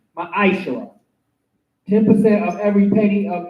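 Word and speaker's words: מעשר: Means tenth in the Hebrew, it is pronounced ma'ashara.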